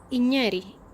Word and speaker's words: Igneri: Y en francés la G y la N suena muy parecido a la ñ en la lengua española.